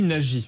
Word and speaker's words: Nadji: Alors on dit Nadji, voilà. C'est pas facile à prononcer, hein, je conçois bien.